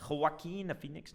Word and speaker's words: Joaquin Phoenix: Joaquin Phoenix.